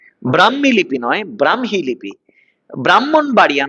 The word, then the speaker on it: ব্রাহ্মণবাড়িয়া: ব্রাহ্মণবাড়িয়া নয়, ব্রাহ্মণবাড়িয়া, ব্রাহ্মণবাড়িয়া, ব্রাহ্মণ নয়, যুক্তবর্ণ ভাঙলে হ ম, উচ্চারণে ম হ, ব্রাহ্মী লিপি, ব্রাহ্মী লিপি, ঠিক আছে।